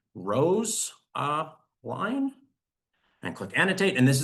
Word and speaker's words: Rosaline: I'm going to click annotate, and I can write should be Rose line.